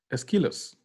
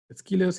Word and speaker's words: Aeschylus: Aeschylus. Aeschylus is one, I think the first Greek, this guy, brilliant mind, the first, I think one of the first Greek tragedians.